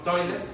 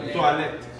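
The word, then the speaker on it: toilette: Se escribe como en inglés toilet, pero no es toilet, es toilet. Es muy bonito entonces. Es muy bonito, tienes que aprender la pronunciación, es cultural, francés.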